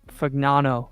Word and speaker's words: Fagnano: Oh yeah, they've got Fagnano is how you say it.